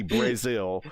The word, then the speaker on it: Brazil: It's spelled Brazil, but they say Brazil.